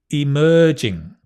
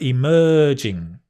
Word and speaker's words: emerging: quite hard disruptive Technologies emerging emerging the stress on the mer emerging Technologies modern easy peasy